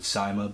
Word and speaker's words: CYMA: actually got the the SEMA set I guess some people pronounce it cyma but it's SEMA for me so the first gun